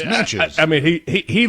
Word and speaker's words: Natchez: Like, no, it's not it's not Natchez, it's Natches.